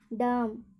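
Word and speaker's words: dumb: सी ओ एम बी, कॉम, और डी यू एम बी, एम बी आ रहा है तो यहाँ पर बी का उच्चारण नहीं होगा, तो क्या पढ़ेंगे, डम।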